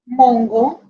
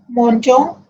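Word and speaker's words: mangeons: So the pronunciation will be mongo or shongo. So to get the correct pronunciation, E is added between G and O. Now the pronunciation will be monjo, shonjo. This is the only difference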